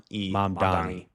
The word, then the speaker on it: Mamdani: that a lot of these terms for this Mamdani, I'm pronouncing his name incorrectly. I'm almost certain, but I'm not. So like, hi, mom. Don, Don, E, Mamdani. Mamdani.